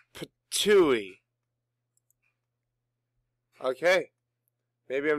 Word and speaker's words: Ptuj: Tuj. Tuj, Slovenia. Let's see. It's Ptuj.